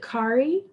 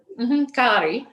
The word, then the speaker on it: Kari: And she pronounces it Kari. Kari. She's Norwegian.